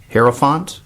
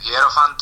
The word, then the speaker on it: hierophant: um and can you help me with the pronunciation of track two hero font here font yes right well uh hierophant uh is a word that derives from uh